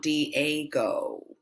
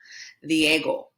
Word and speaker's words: Diego: jorge and then here you've probably said diego diego but it's the echo the ego the ego not d a go diego and here remember our